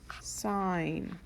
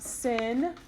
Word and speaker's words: sin: it will be abbreviated s i n is not sin please don't call it sin um as you can see it's not spelled that way it's spelled sign and so if you could say sin I'll probably make fun of you a little bit um don't call it sin it's sun it's just an abbreviation because we can't fit